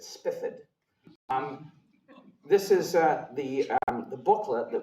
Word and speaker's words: Spithead: There was an admiral, Baron, and I'm told his name is pronounced not Spithead, but Spifford.